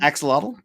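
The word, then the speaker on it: axolotl: Axelottle.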